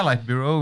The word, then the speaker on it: Light Bureau: buau right yes is it how how you pronounce it yeah light Bureau it's it's I'm head of design light Bureau